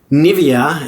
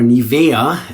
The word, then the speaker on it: Nivea: And then after that, we're just going to grab some Nivea as we in English would say, or Nivea as we would say in uh Germany.